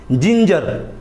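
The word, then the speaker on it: ginger: ई है जेंट्स जी के बाद ई है जिंजर जिंजर का मतलब होता है अदरक जो हम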